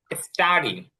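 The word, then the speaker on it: study: স্টাডি অধ্যয়ন করা, এখানে টিটা কিন্তু মানে টি এরকম উচ্চারণ হবে না, এখানে টি মানে সরাসরি টি উচ্চারণ হবে, কারণ এখানে টির আগে এস আসছে। কারণ টির আগে যদি এস আসে তখন টিটা আর ওরকম উচ্চারণ হয় না, তখন স্বাভাবিক টি উচ্চারণ হয়।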